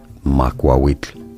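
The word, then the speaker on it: macuahuitl: You are looking at Julian's pronunciation guide where we look at how to pronounce Muawit. Muawit is how it is said. It's easy.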